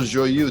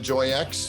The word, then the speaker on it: Joyeux: We have Michelle Joyeux. Did I pronounce that correctly? You certainly did. Woohoo! It's not Joy X or Joy. It's been pronounced as such before, and many other variations.